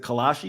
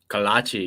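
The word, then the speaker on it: kolache: for you is what the hell is it kalashi is that it's pronounced kalachi yes sir um it's like a it's like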